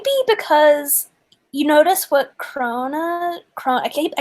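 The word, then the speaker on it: Krone: Crone. What is how that would be pronounced?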